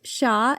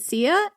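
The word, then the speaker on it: Xia: I have seen this word for China's first dynasty pronounced as both Sha and CIA. And I have to go with one. So I picked CIA. I hope that's okay. Apologies if it is not.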